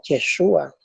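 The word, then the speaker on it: יֵשׁוּעַ: Pues aquí en el sustantivo en hebreo tenemos la palabra Yeshua, que este es una pronunciación tardía del nombre de Jesús en hebreo, que es Yehoshua.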